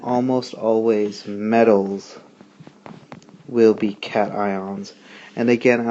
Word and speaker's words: cation: to you about are cation and anion i know that word looks like cassian but it's pronounced cat ion cations are ions that